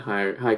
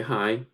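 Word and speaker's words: hej: you just simply say hi it's pronounced or it's written different uh h e j but it's still pronounced hi in english you introduce your first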